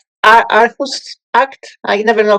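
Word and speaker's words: Aarhus: decisions as well what international act is It's arus act. I never know how to actually pronounce that but it's a r r h us u s.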